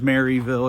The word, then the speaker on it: Merrillville: But I tend to say Sherrillville, which is completely incorrect because I'm from Merrillville, which everybody pronounces Maryville except for me. I think when I lived in Chicago, I picked up the L's.